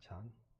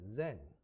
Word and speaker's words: Zen: spread to Japan then the Japanese use the same character except they pronounced it Zen so for some because